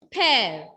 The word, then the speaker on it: père: So, when laxo grave will come along with letter E, pronunciation will be A. A. Exemple en français. Mère. Mère. Répétez. Mère means mother. Mother. Mère. Mère. L'autre exemple. Père.